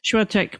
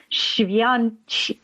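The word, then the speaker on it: Świątek: And I think the rise of Iga, and I learned how to pronounce her last name yesterday, Swiatek. Swiatek. Yeah, I think the Polish say but we say Swiatek. So Swiatek, I think, is good enough.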